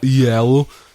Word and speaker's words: IELLO: I think it's pronounced. Yeah. Yellow.